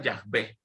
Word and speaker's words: Yahvé: Y yo soy en hebreo se pronuncia Yahvé.